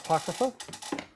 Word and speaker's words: apocrypha: how do you say it again sorry uh Apocrypha apocrypha yeah all right cool apocrypha um it's